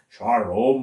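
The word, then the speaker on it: שלום: 우리가 샬롬 샬롬 하는데 그 발음 그대로 하면 샬롬 뭐 그렇다고 그래요.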